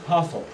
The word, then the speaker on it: Hathor: When you read the name here written in English letter, you pronounce Hathor. Yeah? But actually the original name, I say Hathor. Yeah? The original name is a combination of two words. Yeah? Hat, H-A-T, like hat, yeah?